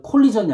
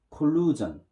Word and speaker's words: collision: 발음 조심하세요. 콜리전이 아니라 콜루전. 따라합니다.